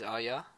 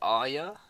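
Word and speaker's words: Arya: oh yeah I think I think it's meant to be pronounced are you i think the uh george RR martin said mmm i don't know a decent area so much it feels with say are ya Rockhold some crowd oh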